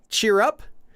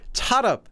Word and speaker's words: Cheer Up: in in their song do they say Cheer Up cheer up baby cheer up no they they say chat up chat up like catchup or something chat up baby chat